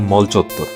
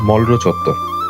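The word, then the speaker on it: মলর চত্বর: ঢাকা বিশ্ববিদ্যালয়ের কলাভবন আর register building এর মাঝামাঝি এই জায়গাটি মলচত্তর। কিন্তু জানলে অবাক হবেন এই মলচত্তর কিন্তু আসলে একটি ভুল উচ্চারণ হওয়ার নাম। এই জায়গাটির আসল নাম মলরচত্তর।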